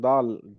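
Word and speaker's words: دال: it is a DA Dal this is the name of the letter the articulation point the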